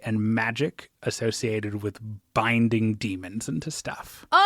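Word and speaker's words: Daemon: Uh Yeah, that act demon smithing uh because they're demon or they're still demons. Uh it's just spelled with an a. So I just got to say demon.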